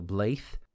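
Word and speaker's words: blaidh: That d is a hard th sound. So blaith.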